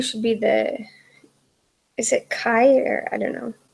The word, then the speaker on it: chi: So, yeah, number 2 should be is it Chi or I don't know. I call it cheese. It's pronounced chi.